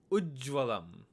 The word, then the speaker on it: Ujjvalam: Notice that this one had a consonant cluster of 3 letters. You have J, J, and Va, and notice when you pronounce it, you had a little pause between the U and the Jva sound.